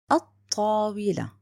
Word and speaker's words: الطاولة: When I know that, now you know this is written but not pronounced. الطاولة.